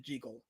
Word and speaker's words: Jekyll: It really was meant to be pronounced Jigal and as KSS confirmed it, Robert Lewis Stevenson pronounced it Jiggle. So unfortunately that's how you pronounce his name. This whole juggle business is a modern interpretation.